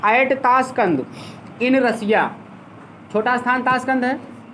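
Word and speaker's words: Tashkent: ताश कैंट लिखते हैं लेकिन उसको कंध हिंदी में पढ़ते हैं।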